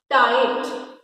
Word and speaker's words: tight: Next is tight. Tight में भी क्या हमारा? GH साइलेंट है.